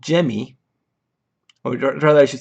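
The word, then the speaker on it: gemmae: Liverworts can produce these tissues called gemmy, or rather I should say I actually wrote the pronunciation here, Jimmy, apparently, which are little groups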